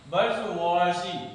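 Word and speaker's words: bourgeoisie: खाया बर्गर ऐसे ही खा लिया हमने बर्गवा बवाजी बवाजी इट कॉल्ड बवाजी बर्गर हमने ऐसे ही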